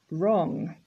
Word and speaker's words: wrong: Wrong. So again, silent W.